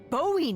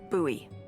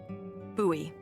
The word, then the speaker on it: Bowie: no warning he pulls out this huge Rusty Bowie knife it's actually pronounced buoy what no it's like the last name like David Bowie different last name buoy are you just messing with me no that's